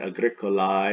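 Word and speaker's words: agricolae: means farmer Agricola I masculine that AE pronounced I ending see Agricola is the singular farmer and Agricole I would be plural farmers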